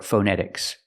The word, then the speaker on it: phonetics: the word phonetic or phonetics the first vowel is the short uh like cup and up